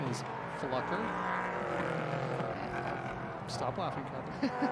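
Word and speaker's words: Pflucker: And his last name is Flucker. Stop laughing, Captain. How do you spell that?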